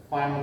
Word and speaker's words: Pfund: P is silent. Fund series.